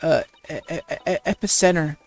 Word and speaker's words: epicenter: So, Jinxie, I hear this village is the epic center of the monster craze. I think I mispronounced that word. Epicenter. I think I said that right.